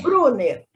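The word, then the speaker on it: Bruner: Brunner.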